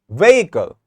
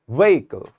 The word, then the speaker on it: vehicle: I seeing it is I'm just focusing and stressing on the first syllable way and I'm not stressing on this part so I have to put primary stress at the very start of saying this word so I would say it's vehicle not vehicle vehicle not